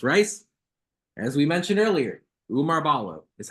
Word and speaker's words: Oumar Ballo: to brother miles rice as we mentioned earlier Umar Balo is how you pronounce it some folks have struggled with that